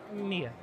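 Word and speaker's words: Mila: you very welcome name's writer what's your name mia it's a m-i-l-a yeah she started just staring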